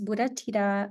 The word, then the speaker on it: Buddhathida: declare so to revisit again my name is Buddha Tita it comes from Buddha and daughter so it's